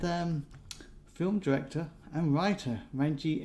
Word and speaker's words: Ranjeet: there obviously and um film director and writer renji s and i hope i got that right